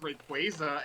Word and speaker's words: Rayquaza: actually pronounced Rayquaza and not Rayquaza.